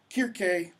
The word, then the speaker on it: Kirke: The C is a hard k. That's why it's Cyclops and Kirke, etc.